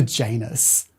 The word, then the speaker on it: Janus: Originally, the Janus Thorn was to be pronounced Janice Thorn, but Tom Baker allegedly said it sounded like an out-of-work actor, so it was changed to Janus.